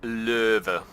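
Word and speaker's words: Löwe: the low or as other people call it louver louver so yeah the correct way to say is louver but without trying to regurgitate my own tongue I'm gonna stick with low and so I'm sorry if that offends were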